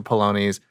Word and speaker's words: Paolini: You're going to be narrating the audiobook version for Christopher Paolini's. I make sure. Paolini. Sorry. Make sure I pronounce it right.